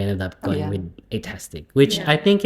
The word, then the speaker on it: Eightastic: Kiran used to call it Itastic. Fantastic. It's right. Yeah. No, Atastic. it's Atastic. Fantastic. Yeah, but she would say she would pronounce Itastic. Fantastic. Yeah, she was like, "Oh, welcome to Itastic."